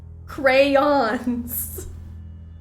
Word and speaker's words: crayons: in Call of Duty crayons has two syllables I'm glad we think so say it louder for the strugglers in the back crayons well I'm watching the